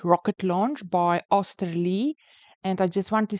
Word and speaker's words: Oesterle: There was different versions of the pronunciation, but most of them come out to Osterlee, so I assume that is correct.